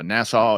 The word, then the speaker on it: Nassau: How do you say it? Okay. Yeah. Bahamas. Is it Nassau? Yeah. Yeah. Nassau.